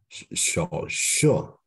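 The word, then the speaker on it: 手术: Again, The you pronounce correctly. I'm just want you to repeat it. Okay. 手术。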